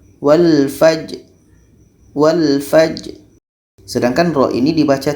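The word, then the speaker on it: والفجر: jalan ini sifatnya Allah Qalqalah Qalqalah nya harus kita baca jadi bacanya walfajri one-page sedangkan Bro ini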